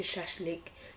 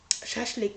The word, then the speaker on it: shashlik: horse meat if you prefer a less meaty shashlik you can also consider also order grilled skewers